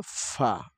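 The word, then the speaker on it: ف: এখানে যে হরফটি দেখতে পাচ্ছি এই হরফটি হলো ফা। বাতাস চালু থাকবে এবং ফা, ফা। উপরের ২ দাঁত নিচের ঠোঁটের পেটের সাথে লাগা দিতে হবে। ফা, ফা, ফা, ফা, ফা, ফা।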